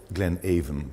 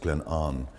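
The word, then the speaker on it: Glenavon: for the sale it's called called Glenn an Glenn aan but pronounced Glenn an The River an joins the river spay at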